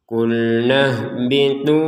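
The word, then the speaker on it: قلنا اهبطوا: Hanya ketika kita baca dua harakat ternyata di depannya ada sukun ya. Ha sukunnya. Suk meniadakan panjangnya nun ini. Sehingga kita yang awalnya bacanya qulna ya, maka sekarang terbacanya qulnahbitu. Jadi tidak ada panjang sama seka sama sekali.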